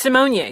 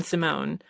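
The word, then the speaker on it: Symoné: way I learned that I've been saying her last name wrong all these years it's Simone Not Raven Simone um but uh I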